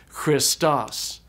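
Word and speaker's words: Χριστός: And so this word is pronounced Christos.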